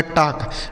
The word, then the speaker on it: talk: यल यहाँ पे साइलेंट है, जैसे हमने वाक में यल साइलेंट किया था ना, वैसे ही यहाँ पर भी यल साइलेंट है। के से हो गया क, से पढ़ा जाएगा टाक।